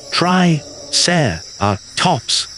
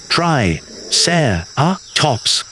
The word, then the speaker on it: Triceratops: To pronounce Triceratops, repeat after me. Tri-ser-a-tops. Fantastic. Try it one more time. Tri-ser-a-tops.